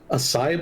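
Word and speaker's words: açaí: I had a acai bowl. Is that how it's pronounced?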